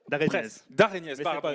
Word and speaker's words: Daraignez: Ce sera aujourd'hui avec notre intervenant de la matinée, de Régnez. Je prononce bien ? Presque, d'Arénez.